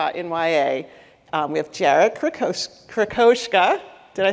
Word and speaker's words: Krosoczka: We have Jarrett Krosoczka. Did I say it right? No, it's okay. So close. Krosoczka. Krosoczka.